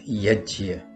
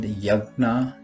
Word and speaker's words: यज्ञ: on the topic of Yajna. Sometimes Yajna is called Yagna or jug, but we should be mindful that the correct pronunciation of this word, based on the Sanskrit phonetic system, is yajna.